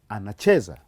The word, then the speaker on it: anacheza: Kiswahili, we put stress on the last syllable but one. We call it penultimate syllable. The last syllable but one. Or the second syllable from the last. For instance, maybe I should give you one example. This is the last syllable and this is the second from the last, and so we put our stress on that syllable.